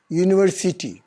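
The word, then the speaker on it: university: Similarly यूनिवर्सिटी, यू भी एक vowel है ना, लेकिन यहाँ वॉवेल साउंड नहीं आ रहा है, इसका उच्चारण य से हो रहा है।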